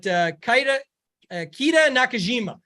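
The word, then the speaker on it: Keita Nakajima: After that, it's tough, but one that I think you mentioned him, but Kita Nakajima is how you say it.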